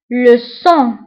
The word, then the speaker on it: le sang: الدم le sang. le sang. le sang. le sang كنكتبوها بالجي في اخر الكلمه ولكن ما كنطقوهاش.